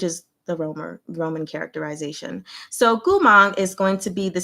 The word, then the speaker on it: Gumang: Gu is going to be the same as Mo, as Gu. Gu, if I slow it down. And then Mang is actually going to go up. So Mang, Gumang. Bada bing.